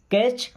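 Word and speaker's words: catch: या चलो अब बट कैच कैच का मतलब पकड़ना होता है ना इस वर्ड में टी साइलेंट होता है ओके अब जैसे हमने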